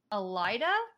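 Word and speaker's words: Elaida: And Rand asks about Elida. Is that how it's pronounced? Yep. Okay. Elida, and Gil says, no way, Jose.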